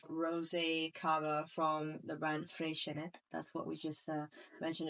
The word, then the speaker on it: Freixenet: I'm going to tell you, Nalini, how I think I would pronounce it, and it would be Freixenet. Okay. Freixenet. Because it's from Catalonia.